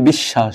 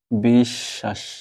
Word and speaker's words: বিশ্বাস: এর সাথে ব আছে স দুইবার উচ্চারণ হবে বিশ্বা আর শেষে যত